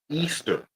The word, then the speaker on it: Easter: So, back to the Ishtar, which is pronounced Easter or in the German Eost, the goddess of dawn, right?